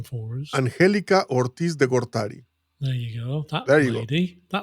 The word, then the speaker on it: Angelica Ortiz de Gortari: Or this this researcher at Bergen University, Yes, which you will enlighten us by pronouncing her name for us. Angelica Ortiz de Gortari.